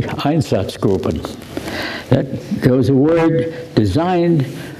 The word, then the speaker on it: Einsatzgruppen: And these were reports from the Eastern Front by special squads known, when it's pronounced correctly, Einsatzgruppen.